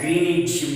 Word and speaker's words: Greenwich: as Greenwich Mean Time, which is pronounced as Greenwich Mean Time, and that Greenwich Mean Time passes through London.